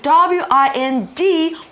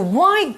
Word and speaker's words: wind: So here we see the word W-I-N-D, wind, 这边是动词转动的意思。To wind up something 是上紧发条。那相反的 to wind down 也就是 relax 放松的意思。那注意哦，同学们晓得名词的时候啊 W-I-N-D 我们念作 wind 就是风。